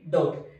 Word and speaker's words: doubt: ఇక్కడ B అనే letter T letter కంటే ముందే ఉంది, సో ఇక్కడ B is silent. So pronouns చేస్తే ఏమొస్తుంది? DOUBT, డౌట్. నెక్స్ట్ అదే విధంగా DEBT.